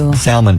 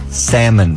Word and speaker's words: salmon: that we're having like salmon patties you called it salmon because it's spelled with an L why is there an L in it if you don't say salmon it's in the face